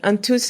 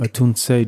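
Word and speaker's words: Atunse: And there's the Antus, am I saying it right? Antus Justice League. Anunce Justice.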